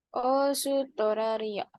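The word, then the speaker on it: オーストラリア: Osutoraria. Os, Hai, ini jadi panjang ya depannya pengucapannya di Australia.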